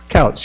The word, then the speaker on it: Coates: corner and extend along the adjacent street there, Coates, or I'm not sure the pronunciation of that, but I think you, how is that pronounced, Jimmy? Coates, the adjacent street? Couts, yes, thank you.